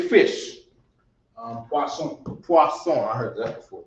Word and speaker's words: poisson: Poisson. Poisson. I heard that before too. It spelled like poison. Yeah. But it's poisson. Maybe that's where poison come from. I don't know. Poisson with 2 S's.